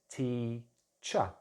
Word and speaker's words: teacher: But for instance, my name is, my title is teacher, cha. I'm not pronouncing the R at the end, it's just a ch and then a schwa, cha.